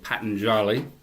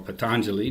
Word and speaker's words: Patanjali: This is the Yoga Aphorisms of Patanjali, or Patanjali, depending on who's pronouncing it, with commentary by Swami Prabhavananda and Christopher Isherwood.